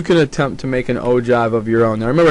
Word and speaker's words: ogive: That's how it's pronounced, ogive. It's a good, nice, fun word.